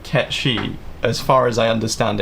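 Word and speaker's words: Cait Sith: It's definitely not Cat Sith. No, it's definitely Katchchi.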